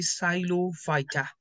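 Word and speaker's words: Psilophyta: talk about the division and division is the silo fighter Silo fighter and when we talk about its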